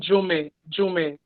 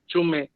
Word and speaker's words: Jome: It's actually Jome, but you could pronounce it Jom, but it's Jome.